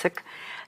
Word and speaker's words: Sikh: But if you like here in Fresno, Clovis, when I see Indians walking out, and most of them are Sikh, but it's pronounced Sikh, they understand Hindi, but Punjabi is very similar.